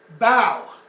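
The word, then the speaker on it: bough: Bow, B-O-U-G-H, is pronounced like bow, like in the Asian custom, you bow.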